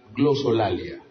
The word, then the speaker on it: glosolalia: La xenoglosia y la glosolalia. Anótenlo. Xenoglosia se escribe con X, la xenoglosia comienza con X,